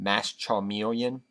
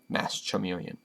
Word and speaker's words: Masked Chameleon: with two masked chameleon i also call mass communion mass charmeleon do not ask me why it's just from the first time i ever tried to pronounce mass chameleon when i first got